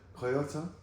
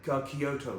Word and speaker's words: Kyoto: Kyoto? yeah, Kyoto.